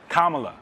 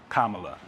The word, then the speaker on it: Kamala: You say it. Kamala. Kamala. L-A. Yeah, okay, Kamala. Like Kamala. I don't know. Yeah. There's a couple different ways to say it.